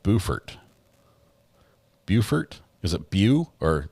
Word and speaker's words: Beaufort: Beaufort.